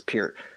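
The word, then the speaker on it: Neil Peart: name is Pierre I know everybody calls a park but it's pure but anyway he he passed away on the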